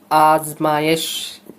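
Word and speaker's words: آزمائش: আচ্ছা, আজমায়েশ, আজমায়েশ শব্দের উচ্চারণ কেমন? আজমায়েশ, ঠিক আছে।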